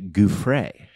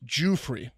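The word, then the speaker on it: Giuffre: let you go but we've been i've been mispronouncing i believe mark was going to say virginia goofray it's jewfrey i don't i really don't think you can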